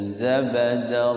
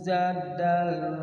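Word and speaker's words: زبدا: Audiyatun biqadariha fahtamala sailu zabadar rabiya. Audiyatun Biqadariha. Audiyatun biqadariha fahtamala syailu zadal rabiya. Zabadar pakai ba.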